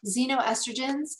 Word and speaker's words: xenoestrogens: When I was talking about at the beginning, xenoestrogens, if you want to look it up, it's spelled with an X, X-E-N-O, estrogens.